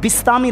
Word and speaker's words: بسطامی: کا صحیح تلفظ ہے، صحیح تلفظ با کے نیچے زیر ہے۔ حضرت بایزید بسطامی رحمۃ اللہ تعالی، اتنا